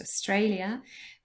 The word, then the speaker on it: Australia: Australia has three syllables and the middle one is stressed, Australia, but she has not been to New Zealand.